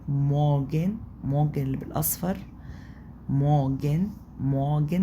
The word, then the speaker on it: Morgen: الصباح هي الأداة التعريف، الارتكل دي اللي هي الدير والداس والدي، دي معناها يعني كلمة مورجن، مورجن اللي بالأصفر، مورجن، مورجن ما نطقتش الار برضو، مورجن، مورجن دي معناها صباح.